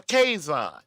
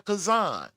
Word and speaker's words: Kaison: I'm a quison, not a kazan.